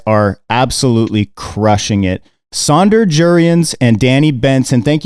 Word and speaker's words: Jurriaans: your name right but j is actually pronounced like a y yurions but i always like